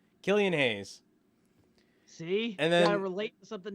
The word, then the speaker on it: Killian Hayes: knicks took kobe topping it's like the beer killians oh killian's haze killian hayes see and then relate